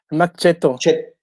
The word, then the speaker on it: Max Cetto: la arquitectura del taller max cetto se pronuncia machete yo creo que la